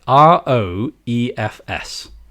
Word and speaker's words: Roefs: He's called Robin Ruffs. Ruffs. Now, you try to tell me how to pronounce it. Roefs. No, I think you pronounced it correctly. Yeah, actually. I think that's how the whole world would pronounce that. Yeah. Yeah. Ruffs. And you have to really elongate the as well.